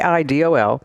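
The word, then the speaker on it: AIDOL: And it's spelled A I D O L but pronounced Idol.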